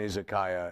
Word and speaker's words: izakaya: It's a place to drink sake, an izakaya. Okay. So, or an izakaya, as it's pronounced in the West.